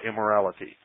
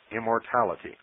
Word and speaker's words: immortality: the will of God I mispronounce the name of the child it's immortality not immorality immortality psyche replied that with